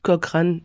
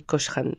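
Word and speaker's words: Cochran: ça ne bouge pas c'est Johnny kokran et non pas Johnny kochran donc je demande pardon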